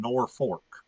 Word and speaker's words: Norfolk: Nebraska north of Omaha there's a town that's spelled n o r f o k Norfolk but everyone there says they live in Norfork that doesn't it's nor I would have said nor folk noruk too yeah heard noruk